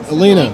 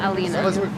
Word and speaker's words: Elena: you were going to Elena You' got to get her name right talk to her get she may not talk back to you but it is not Alena well what is it